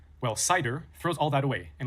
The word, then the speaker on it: CIDR: First is CID R pronounced cider which stands for classless interdomain routing.